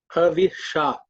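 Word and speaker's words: हविषा: Havisha. Again the same sha.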